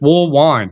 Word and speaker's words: Woolwine: But it's an easy compound letter. It's wool wine. You know what I mean? So you'd think it would be easy to pronounce, but coaches specifically always have had a problem.